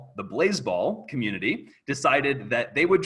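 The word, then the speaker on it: Blaseball: I'm going to turn to, I don't know how, nobody knows how to pronounce Blazeball. It's pronounced Blazeball.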